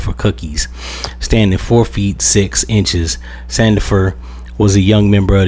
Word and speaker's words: Sandifer: For all those that don't know who Yummy Sandifier, uh, I think Sandifer was. That's I was saying his name wrong.